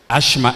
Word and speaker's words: asthma: the man is another asthma is gone asthma asthma asthma asthma okay the T is silent asthma gone praise alert